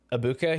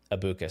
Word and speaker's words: Egbuka: He's had, similar to Ibuka, he's had a huge fall off in production, but unlike Emeka Ibuka, and by the way, I just learned that the G is not pronounced in Egbuka.